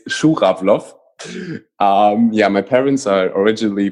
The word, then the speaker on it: Schurawlow: me that it's even hard for you to pronounce yeah okay it's shook-up floss yeah my parents are originally from from Russia